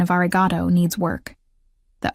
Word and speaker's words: arigato: I did pronounce arigato wrong. The final O was too short, too clipped.